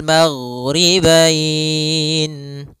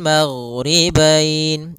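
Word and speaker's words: مَغْرِبَيْنِ: Kemudian di sini huruf ghain, hati-hati dalam pelafalannya, jangan sampai memantul, jangan maghribain wa Rabbul maghribain sampai dia memantul. Nah, karena huruf ghain tidak ada sifat qalqalah, tidak ada sifat pantulan.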